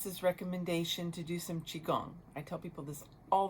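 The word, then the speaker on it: Qigong: So, Chiong, the way you look it up, it's spelled Qi, and you can pronounce it different ways, but I'm going to pronounce it Chiong for this moment. It could be like Chong.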